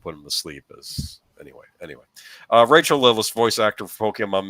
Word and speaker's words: Rachael: Raquel? Is it Raquel or Rachel? I'm sorry. I should have known this. I mean, it looks like it's spelled Rachel to me. Okay, Rachael. Okay, yeah, Rachael was an extraordinary talent,